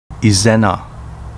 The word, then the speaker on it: Izena: Izena, pronounced Ijina in Uchinaguchi.